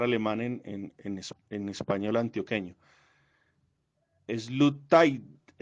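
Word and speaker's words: Sloterdijk: lo va a pronunciar obviamente mal, porque es pronunciar alemán en español antioqueño. Slutaidai, Slutaidai, así es que se pronuncia.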